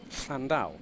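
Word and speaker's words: Llandow: center of world motorsport landau international raceway in south wales not too far from the isle of barry or the traditional pronunciation is flandau i've got cousins i've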